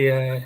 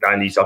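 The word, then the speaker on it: Dionisi: His name is, if I pronounce it right. Dionysi, yeah. That's it. Dionysi, I should have known better, but what a coach he is, man.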